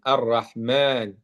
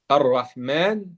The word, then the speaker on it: الرحمن: Ici, vous voyez, Abdurrahman, ça s'écrit Rahman, mais ça se prononce Rahman, Ar-Rahman. Vous voyez? Ar-Rahman. C'est pour ça, dans le Coran, vous allez trouver un petit alif comme ça ici, après le mim.